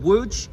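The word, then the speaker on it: Łódź: down to check out a city called wood it's spelled l o d z and wo is the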